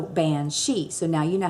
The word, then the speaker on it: banshee: Our way would be bean, but they pronounce it ban. And S-I-D-H-E, she. So banshee.